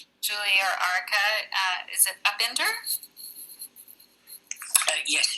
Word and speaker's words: Upinder: Julie or Arika, is it Upinder? Yes, Upinder. Upinder. Oh, sorry for the mispronunciation.